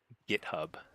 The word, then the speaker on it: GitHub: settled on gif instead GitHub is a hard G.